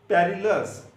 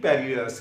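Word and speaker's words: perilous: पहला वर्ड है पेरिलस। क्या वर्ड है पेरिलस, ये याद करने के लिए पेरिलस है, लेकिन प्रोनाउंसिएशन परलस होती है इसकी।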